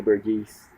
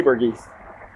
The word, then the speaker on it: Burgess: wound up dead burgess which i really want to say burgesse let's say burgess it's spelled b-u-r-g-e-s-s burgess